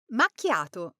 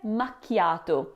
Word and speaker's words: macchiato: But the tricky part here is the ch sound. In English, we're used to saying ch as in cheese, but in Italian, ch always sounds like a hard C- sound, like in the word key or car.